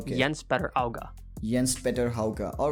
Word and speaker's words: Jens Petter Hauga: Jens is how it's written, but Jens Petter Auga.